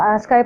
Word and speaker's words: ASCII: Data representation में next term आपकी है आस्काई, American standard code for information interchange, इसको हम आस्काई प्रोनाउंस करते हैं, ये आपने प्रीवियस क्लासेस में भी पढ़ा होगा।